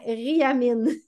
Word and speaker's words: Riamin: lettres d'un nom, ou je vais mal le prononcer. Riamine. R-I-A-M-I-N. Ouais, Riamine.